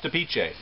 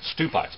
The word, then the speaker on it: Stupice: Actually, I was mispronouncing the name all this time. I was calling it Stupice because, well, I'm a redneck and that's how it's spelled. But Stupice is a cold-tolerant heirloom tomato from Czechoslovakia.